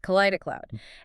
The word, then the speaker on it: Kaleidicloud: And that brings us to what the source calls kaleida cloud and that's pronounced k cloud. Right. Kida cloud.